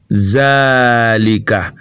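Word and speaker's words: ذلك: bien sûr rimac 1 en écrit zalika mais on prononce zalika car il y à ce qu'on appelle une allait supprimer un arabe alif mas roujou fois que l'on prononce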